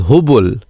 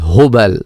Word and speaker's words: Hubal: You didn't pronounce the idol Hubal. You said it was Hubul. Well, the correct pronunciation is Hubal.